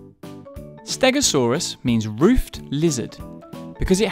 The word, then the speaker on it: Stegosaurus: to learn all about stegosaurus how do you say that again stare go can you say it with me go saw russ so what do we know about stegosaurus it was found in